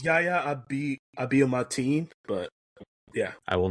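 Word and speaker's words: Yahya Abdul-Mateen: because I knew I couldn't be able to pronounce it correctly. Yaya. Yep. Should have just stopped there. Yep. It's Yaya Abiyamatine, but yeah.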